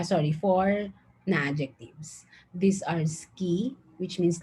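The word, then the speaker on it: 好き: by the ways uh this is not pronounced asuki but rather you pronounce it as ski okay and this one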